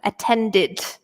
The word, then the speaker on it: attended: so attend it so here we pronounce the e so it makes an ie D sound attended okay attended okay whereas